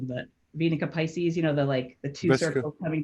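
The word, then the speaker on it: Vesica Piscis: I always say it wrong, but Venica Pisces, the two Vesica. circles coming to Visca. Yeah. Vesica Pisces.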